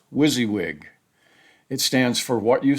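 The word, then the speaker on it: WYSIWYG: Manuscript formatting for paperback and hard coverver is usually described with an acronym that's pronounced wizzywig.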